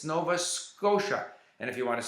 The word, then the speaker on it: Nova Scotia: o t i a Nova Scotia that's how it's pronounced in English but to him it was Nova scota you know because he